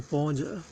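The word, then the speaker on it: 般若: 选波，按班念作波，般若，般若念般若，般若是妙智慧的意思。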